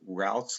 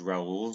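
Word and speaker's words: Raoult: the math goes with routs law I us to think is rul law but no it's rout is how you pronounce it um but I'll always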